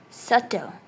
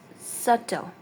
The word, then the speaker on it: subtle: Subtle. It's subtle, not subtle. It's subtle. B is silent.